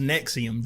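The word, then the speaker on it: NXIVM: I saw multiple articles it is pronounced nexium just like the antacid piggybacking on an attorney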